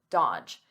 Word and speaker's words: dodge: Notice here, the D is silent, the middle D, dodge, dodge.